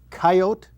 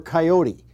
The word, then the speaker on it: coyote: this is a mounted coyote or coyote take your choice actually people pronounce it both ways depending on how they use it in the sentence sometimes I talk about